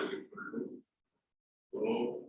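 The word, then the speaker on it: ρ: That is P was square. It is pronounced as rho.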